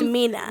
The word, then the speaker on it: M3NA: Because I don't want to mispronounce, because is it Mina or... It's Mina. Mina, yeah. Mina Media. M3NA, because my name in full has 3 M's.